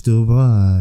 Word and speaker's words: Dubois: Say like the Blanche Dubois, you know.